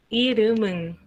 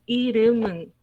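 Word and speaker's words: 이름은: Y por eso suena como irum. Irumun, ¿ok? No es irum, es irumun. 3 sílabas.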